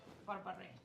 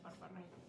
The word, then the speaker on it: berbere: red lentils made with berbere. It's onion, garlic, ginger base, and then berbere. I've been saying it wrong all this time. I've been saying Berber.